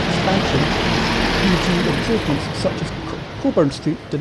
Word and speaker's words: Cockburn Street: Or, as we pronounce it, Coburn Street.